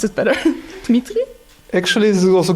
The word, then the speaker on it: Dmitry: My guest today is Dmitry. Is it pronounced right? Yes. How do I pronounce it better? Dmitry?